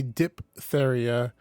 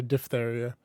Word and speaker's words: diphtheria: yeah depth don't say diphtheria the ph in this word is pronounced f yeah i was right it's a diphtheria cool if dog eat